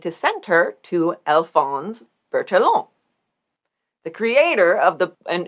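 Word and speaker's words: Bertillon: send her to alphonse bertallon the creator of the and here in america i think we would pronounce it bird along which we've talked about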